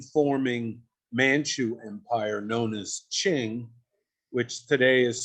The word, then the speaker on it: Qing: for the then forming manchu empire known as ching which today is spelled for reasons that's still puzzling q-i-n-g but